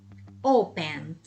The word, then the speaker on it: opened: Opened. Não tem ali o som, né? No caso, opened. Teacher, why? Because it's vamos dizer, a silent letter.